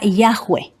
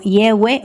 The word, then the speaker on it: Yahweh: Por otro lado, la historia griega revela que la pronunciación era Yahweh. Clemente de Alejandría transcribió el nombre en griego en forma de Yahweh.